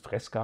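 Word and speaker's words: Fresca: mittlerweile mal ganz gerne also hier kantina fr wird freska ausgesprochen doch ich denke doch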